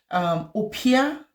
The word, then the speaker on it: Oppia: Opia is it's spelled OPPIA.